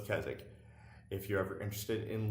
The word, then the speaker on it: Keswick: stone circle, is called Keswick. It's spelled Keswick, but just like the town where we live, which is Alnwick, Alnwick, they don't pronounce their W's.